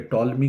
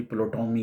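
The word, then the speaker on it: Ptolemy: तो ये खाली आपका ये नहीं, आप मेरा ख़्याल है कि टॉलमी को भी प्लोटोमी कहते हैं, पी पी उसमें साइलेंट है।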